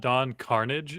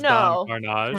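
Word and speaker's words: Don Karnage: His name is not Don Carnage. It's Don Carnage. Don Carnage. So, like, literally everyone, including me, has been pronouncing his name wrong.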